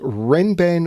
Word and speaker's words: Renban: I'm coming to you with a puzzle called Ren ban whisper diagonal Arrow that's how the setter says this should be pronounced the setter being arachno now when Arno